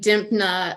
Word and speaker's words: Dimpna: for people uh and dimpna um which is pretty much pronounced like it's seen on like some Irish